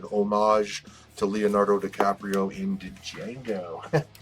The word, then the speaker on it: Django: Sheldon Beckart exclusive Virgin, and it's an homage to Leonardo DiCaprio in Django. Django, the D is silent, motherfucker.